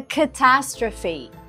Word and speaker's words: catastrophe: It's a catastrophe. Кстати, произносится именно так. Catastrophe.